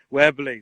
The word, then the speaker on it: Webley: That's Webley Castle, or Wobley, depending on pronunciation. What's the correct pronunciation? Webley.